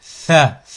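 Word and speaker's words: ثاء: Tha, comme en anglais. The, tha.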